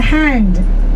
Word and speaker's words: Han: And the second dynasty is your hand without a D. Yeah, Han Dynasty, H-A-N. You remember I mentioned 93% of the Chinese people, we are Han nationality.